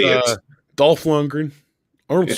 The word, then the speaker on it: Dolph Lundgren: I love how you say Dolph Lundgren. That's how the Swedes say it. Arnold Schwarzenegger. That's how the Austrians say it. And that's how I say it. Dolph Lundgren, Arnold Yeah.